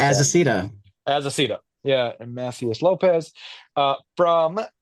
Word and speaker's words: Azaceta: then Seasons number 5 from Rick Remender and Paul Azita, or how do you pronounce As a that? Cita. Azaceta.